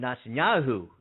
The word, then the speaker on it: Netanyahu: the um but the prime minister there benjamin netanyahu that's how you pronounce it uh said sunday that he would